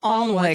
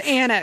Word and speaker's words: Alnwick: Oh, and another thing, many towns in England have a silent W in the middle of their name.